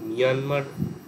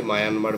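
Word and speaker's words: Myanmar: স্থবিরবাদ বা বিভাজ্যবাদ বহির্ভারতে প্রসারিত হয় এখনো শ্রীলঙ্কা মায়ানমার মায়ানমার আমরা বলি বটে কিন্তু একচুয়াল প্রোনাউন্সিয়েশন মিয়ানমার তো ওরা মানে আমরা যেমন মানে ভারতকে ইন্ডিয়া বলি ইংরেজিতে তো মিয়ানমার শব্দটা কাইন্ড অফ মানে ইংরেজি ভার্সন ওরা নিজেদের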